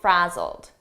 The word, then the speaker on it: frazzled: He looked a little frazzled. Frazzled, here it's a past simple ed verb, but the pronunciation is a very soft D, and you almost don't hear it. Frazzled, very soft, frazzled, frazzled.